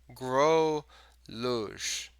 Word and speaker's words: Gruluge: Yeah, I still need to get used to saying your last name. Gruluge with a G at the end. Growluge. Groluge. Growluge. Groluge.